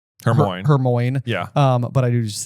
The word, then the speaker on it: Hermione: 4 still didn't quite know how to say Hermione. Yes. So she is sounding it out syllable by syllable, not for Crumb, but for you, the reader. For you, the reader. Hermione.